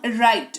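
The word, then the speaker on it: write: तीनों ही शब्दों में रिस्ट रॉन्ग राइट, डब्लू है शुरुआत में, उसके ठीक बाद आर लिखा हुआ है, जो कि इस रूल को फॉलो करेगा, जिसके तहत डब्लू का उच्चारण नहीं किया जाएगा। इसको रिस्ट रॉन्ग राइट ये पढ़ा जाएगा।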